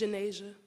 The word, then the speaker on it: Jania: South 26 Street and as to the pronunciation of commissioner mois I believe believe is Jania Morris am I correct it's Jania Jania see that communication is